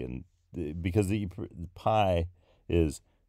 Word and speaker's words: pi: And because the pi is p and iota. And P and iota are the two letters in the name for the letter pi. And that's together, those are pronounced P.